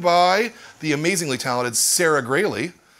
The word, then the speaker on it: Graley: we are joined by the amazingly talented Sarah gray Lee pronounced that rate is greatly not growl oh yeah yeah very good Grady's perfect excellent